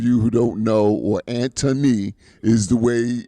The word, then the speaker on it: Antony: Antony, for those of you who don't know, or Antony is the way it's pronounced.